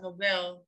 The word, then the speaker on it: Nobel: How about Nobel? I'm not sure I'm saying your name correctly. Yeah, Nobel. That's how you say it.